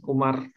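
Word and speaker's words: عمر: Nah, ini bacanya Umar ya.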